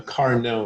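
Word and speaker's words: Carnot: about is called a car no engine it's named after a frenchman so we don't pronounce the t so car no and it consists of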